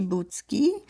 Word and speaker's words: Bucki: My name is Bucki. That's in Polish. My last name in English is pronounced Bucki.